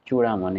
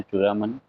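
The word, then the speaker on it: चूड़ामन: था जिसका नाम था हिंदी में बोलते हैं चूड़ा मन इंग्लिश में हम लोग प्रोनाउंस करते हैं चुरामन जाट इससे भी इसने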